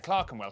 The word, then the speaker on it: Clerkenwell: ER is pronounced R. Berkshire, Clerkenwell, Hertfordshire.